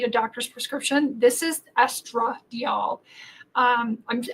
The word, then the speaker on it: estradiol: doctor's prescription this is estra diol um I'm I'm over pronouncing the a because estra deol and estriol they sound so much alike so estradiol is the